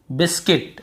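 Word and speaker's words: biscuit: यहाँ पर देखिए बिस्किट, ठीक है, बिस और सी को भी पढ़ेंगे किट, बिस्किट।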